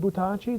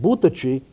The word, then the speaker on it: Buttacci: with Buttacci in it because pronounced Buttacci, it means throw us. Butta means throw, and ci is us, so Buttacci. But our name pronounced Buttacci is a very old Sicilian term that meant little bells, bells like in church.